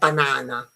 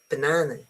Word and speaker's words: banana: So it's not banana is banana. Okay? Because there is no stress.